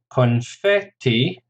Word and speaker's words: confetti: Confetti, 3 syllables, stress on the second, confetti.